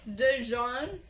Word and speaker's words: Dijon: Dijon? Like there's a D there? Yeah, I'm pronouncing it right, it's a right? silent Yes, D, you are. right? Right, thank you. Jean mustard. It's a silent D.